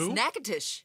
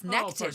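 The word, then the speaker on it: Natchitoches: It's nacitish. Natus. Yes. Nackitish.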